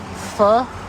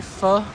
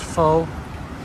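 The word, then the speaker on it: phở: Pho, as they say, pho. Even though it looks like it's pronounced faux.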